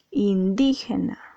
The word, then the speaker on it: indígena: tea está acentuada sí porque tú no dices indígena tú no dices indígena o indígena dices indígena entonces en este caso